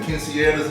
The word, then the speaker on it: quinceañera: But you gotta roll the R in there, yeah, too.